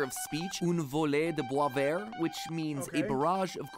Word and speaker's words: Boisvert: underscore Boisvert, or as I believe it's actually pronounced, Boisvert.